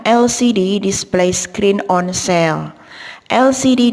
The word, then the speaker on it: LCD: LCD di sini huruf pertamanya adalah L atau konsonan, tetapi suara yang digunakan adalah huruf vowel L.